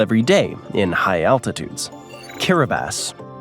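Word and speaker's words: Kiribati: Kiraabas. And yes, that is how it's pronounced.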